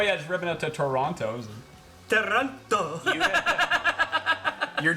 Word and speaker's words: Toronto: How do you say Toronto? Toronto. Toronto. Toronto. So you don't say Toronto. Yeah, that's how I know Toronto. you're foreigner. Ah, okay, very good. Oh yeah, just ripping out to Toronto.